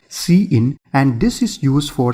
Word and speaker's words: cin: Number one, we have cin which is pronounced as see-in, so we call this as see-in and this is used for standard input.